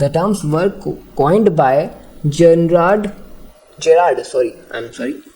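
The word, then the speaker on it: Gerard: जन जे जे जन जे जन जे जनरार्ड मैनली हॉपकिंस ने। The terms were coin bye जेनरार्ड जेरार्ड sorry I am sorry कि मैंने गलत प्रोनाउंस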